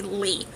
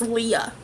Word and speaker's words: Lea: Li uh le I say it so fast that everyone thinks I say Li but it's Leah um I do not